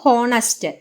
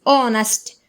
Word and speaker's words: honest: Next example: in honest man, H is silent. It is not honest. The pronunciation of this word is honest.